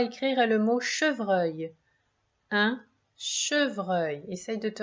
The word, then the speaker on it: chevreuil: Le son œil s'écrit E-U-I-L.